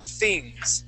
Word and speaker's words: things: For example, this is an unvoiced TH, okay? It's things.